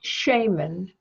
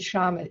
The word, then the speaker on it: shaman: here again and yes you say Shaymin and I said shaman it which is the correct way it takes a bizarre